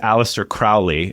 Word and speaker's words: Aleister Crowley: I haven't had the time, whose name is Aleister Crowley.